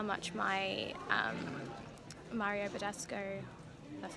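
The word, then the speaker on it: Mario Badescu: So for some stupid reason I didn't check to see how much my Mario Badasco, that's how you pronounce it, face wash, how many mils it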